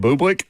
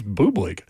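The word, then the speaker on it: Bublik: Uh, and I was talking about a tennis player named Bubick and it's B U B I L I K.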